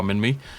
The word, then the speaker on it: Minmi: Minmi, I pronounced it correctly.